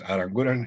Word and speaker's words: Aranguren: So that is Aranguren is the correct pronunciation. It's a Basque, Spanish surname of Basque origin.